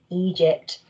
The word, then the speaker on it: Egypt: having these pyramids here we've got our letter name so e soft g g e e it says egypt so you can get